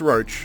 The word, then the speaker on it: Roche: I'm gonna go meet roach or oh Sh it's pronounced roach it's very norwich that's how it's always been pronounced but it's a we